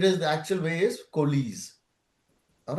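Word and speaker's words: coalesce: Uh a lot of people pronounce it kles kiska but it is the actual way is kies.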